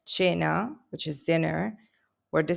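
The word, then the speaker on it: cena: This is pronounced at a soft ch sound like in church. So you will find words like cha which is dinner where the c comes before the e and it becomes a soft ch.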